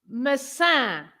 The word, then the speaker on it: maçã: What is the difference between the two A's? I mean, the first A's, not the second A's, okay? The first A's. So I'm going to say both words. Massa, maçã. Yeah. Can you see any difference on the first A? Yes. Massa, maçã. Yeah, it's slightly more clipped in the second one.